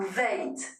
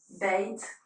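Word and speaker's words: ב: Beit ou Veit, c'est la même lettre, et voilà comment elle s'écrit. Beit ou Veit, elle se prononce B ou V, pour nous c'est un Beit.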